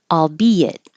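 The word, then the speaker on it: albeit: weird weird that's weird albe it this is very strange it's not very often that we separate vowels next to each other into two separate syllables but that's what's happening allbe it and because you're going from a high position B to a lower position it it'll make a invisible why albe it it means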